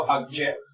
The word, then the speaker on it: object: Asimismo, por ejemplo, object, ¿no? Tenemos, por ejemplo, object, que sería de esta forma. Y asimismo, si quiero decir, por ejemplo, verbo, object.